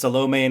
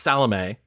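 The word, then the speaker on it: Salome: the movie it's it's salame salame that's how you say it and I watched that entire movie and I was like why do they keep saying salomi they're like salomi and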